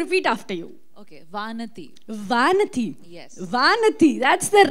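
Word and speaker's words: Vanathi: and then I'll repeat after you okay Vanity Vanity yes that's the right pronunciation vanity all right um you're a bundle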